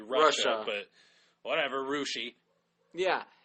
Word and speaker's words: Russia: supposed to be Versailles people say Russia well that's stupid it's supposed to be Russia but whatever Russia yeah